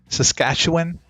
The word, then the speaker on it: Saskatchewan: Ryan McGinnis, Saskatchewan. That's how it's pronounced.